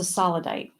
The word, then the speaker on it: sodalite: i thought was meditated on okay it's a sodalite thank you thank you so many pronunciations i got my brain i've got jamie's brain because i think there actually is a solidite sodalite okay thank you you're welcome it's it's